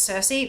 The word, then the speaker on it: Circe: Circe, that's sorceress from Greek myth. Yep. If it's like the Swedish name, it's Circe. Perfect. I know it's pronounced differently all over Europe, but that's the one I know.